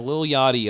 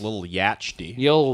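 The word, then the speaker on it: Lil Yachty: trendsetter guys bit of a trendsetter you know little yadi owes me some royalties I think from that target commercial he did with Carly Rae Jepsen why it's pronounced little yah-tchi yah-tchi yah-tchi when he goes to prison they'll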